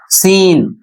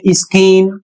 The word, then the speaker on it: scene: जैसे यहां पर लिखा है एस सी ई एन ई। और इसका प्रोनन्सिएशन होता है सीन। यदि इसे आप पढ़ते हैं स्किन तो यह बिल्कुल गलत है।